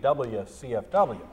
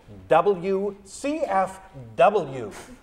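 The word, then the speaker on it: WCFW: letters fifty times because I was saying WS cfw and she stood there it's w CF W and I had to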